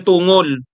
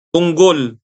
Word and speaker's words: Tungol: Hindi daw 'yan Tungol. Tunggol. Narinig ko nung ininterview itong si Attorney Reginald ba ang pangalan nito? Attorney Tonggol. Tinanong siya kung papaano pino-pronounce yung apelyido niya. Tungol o tonggol? A ang sabi niya parang munggol daw ang pronunciation niya.